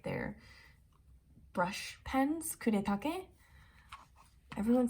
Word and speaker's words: Kuretake: their watercolors and for like their brush pens kuretake everyone says kuritaki or something but this is sakura the sakura